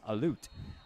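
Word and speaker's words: Halut: it's Deo and h-a-l-u-t you do not pronounce the h so it's a loot so Dale alute will kick things off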